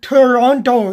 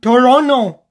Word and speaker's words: Toronto: TV presenter he said you don't pronounce it Toronto you pronounce it Toronto not what the T because that he is